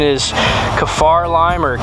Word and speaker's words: kaffir: pretty good so i think the product correct pronunciation is kefar lime or kefir lime now this is a lime tree that